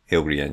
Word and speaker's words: Ile-Rien: I'm not sure how you pronounce Ile-Rien. Ile-Rien, yeah.